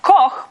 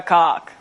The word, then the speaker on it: Koch: My last name is Koch. It's meant to be pronounced Koch, but if you're living in an English-speaking country, 8 out of 10 times I am Koch.